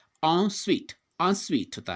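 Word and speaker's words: en suite: जब भी हमने ये वर्ड देखा है या फिर लिखा है तो हम इसको क्या प्रोनाउंस करते हैं, सूट, जबकि इसका जो सही उच्चारण है वो क्या है, स्वीट।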